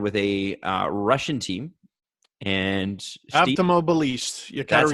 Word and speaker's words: Avtomobilist: And Avtomobilist. That's how you pronounce it.